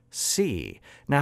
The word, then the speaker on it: cn: x with a parameter c. Now how do we pronounce this? I don't know. I say sn and cn. Some people say sun and kun or sin and kin or san and can.